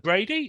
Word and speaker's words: Bradi: Australia Sydney Australia y Sydney Australia well Brady is that how you pronounced your surname that is correct yeah